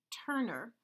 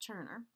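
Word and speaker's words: Tønder: is a point ground lease from Denmark called Turner if you ever see it written out it's tio and de are but it's pronounced Turner I am only going to make it as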